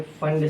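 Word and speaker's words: Pfund: P silent होता है। लिखने में पी फंड लिखते हैं। लेकिन इसे प्रोनाउंस किए करते हैं फंड सीरीज। एक और है हमरी सीरीज।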